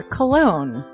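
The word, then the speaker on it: Colon: a self-published book by Christopher cologne Chris cologne smells good to me look at her that broke that cold little like but it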